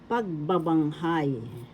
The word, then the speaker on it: pagbabanghay: pandiwa conjugations in tagalog pagbabanghay first syllable pag second syllable ba third syllable bang fourth syllable high the accent is the first syllable pagbabanghabanghabanghay that's conjugations and